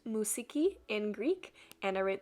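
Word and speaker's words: μουσική: just wrote music at the top which is pronounced musiki in greek and i wrote the translation there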